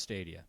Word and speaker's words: Stadia: believe it's pronounced Stadia.